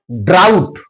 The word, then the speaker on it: drought: Drought, GH is followed by T, that's why here GH is silent.